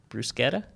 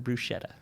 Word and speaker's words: bruschetta: Brusetta or bruschetta? Um, I would say bruschetta, but I'm not I've heard it both ways.